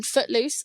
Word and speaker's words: footluce: My main channel is TikTok, which is @_ and then footluce, spelled like a foot and then loose, like Luce, which is my name.